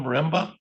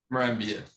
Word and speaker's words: Marambia: All right, and correct my pronunciation, sir. You are Isanga Marimba? Marambia. Marambia, thank you.